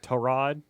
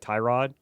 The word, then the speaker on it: Tyrod Taylor: His name is pronounced T- Rod. Is it really like like Trod? It's Trod instead of like Tyrod.